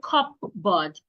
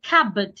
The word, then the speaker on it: cupboard: Then we have cupboard. The P is silent. Do not say cupboard. Say cabb. Cab.